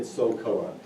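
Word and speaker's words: SOLKOA: military, he actually worked as a contractor for doing those types of things in survival, and eventually created SOCOA. And just for your listeners' benefit, SOCOA is spelled S-O-L-K-O-A.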